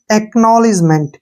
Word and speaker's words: acknowledgement: के यहाँ पे साइलेंट रहेगा और NO का उच्चारण नो होगा, ठीक है। और यहाँ पे ध्यान दीजिए, KNOW यहाँ बन गया नो, क्या बन गया, नो। LE से बन गया ली, ठीक है। और DGE का उच्चारण जय होगा, यानी कि नॉलेज, एक नॉलेज।